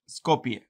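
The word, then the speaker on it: Skopje: the full name and the capital is Scopia the J is silent Scopia okay yeah you know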